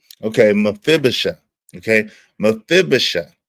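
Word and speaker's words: Mephibosheth: Mphibisha. Okay. Mafibisha. It's pronounced really really uh it it is spelled M E P H I B O S H E T H is but it's pronounced M Mibisha.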